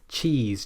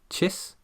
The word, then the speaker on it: cheese: If you're pronouncing it like chis, then you won't feel those muscles.